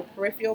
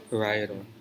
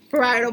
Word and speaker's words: parietal: Sorry, I'm really bad at pronunciation. Lambdoid sutra. This part here are the peripheral bones. Parietal. Sure you don't want to do it, so I'm not mispronouncing everything. Parietal bone.